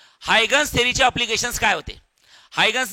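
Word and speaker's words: Huygens: झाल्यानंतर नेक्स्ट आहे बाळांनो हायगन्स थेरी ऑफ लाईट कुठली आहे हायगन्स काही काही लोक म्हणतात हायजिन्स स्पेलिंग तहस आहे त्याचं पण वाचायचं हायगन्स काय वाचायचं श्रावणी हायगन्स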